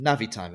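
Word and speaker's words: Navitimer: it's like no it's just not how you pronounce it anyway it's the na'vi navi timer yeah um all right you are unfortunately wrong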